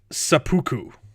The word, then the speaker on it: seppuku: That it's pronounced seppuku.